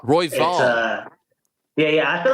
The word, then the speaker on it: Royval: How do you pronounce your last name? It's Royval. Royval.